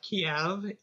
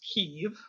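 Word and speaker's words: Kyiv: pronunciations so remember that the capital is not kiev it's kiev um i don't know of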